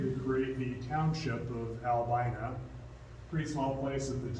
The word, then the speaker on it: Albina: And Albina was named after his wife and his daughter, whose name, they actually say, the family says it's pronounced Albina. It's not Albina, but of course it's been sort of changed to its more popular pronunciation today.